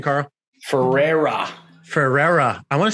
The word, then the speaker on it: Ferreira: But yeah, it's a tongue twister, but pretty simple once you break it down into like 3 syllables. It's there. So Ferreira.